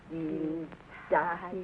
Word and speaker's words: Dienstag: That is good, but pronounce the words broader, so Sonntag, Montag, Dienstag, yes?